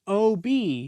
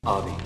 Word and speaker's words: Obi: something, but I swear Jigsaw is saying OB. Hello Obby. Even though Obi specifically does not pronounce it that way. Obi.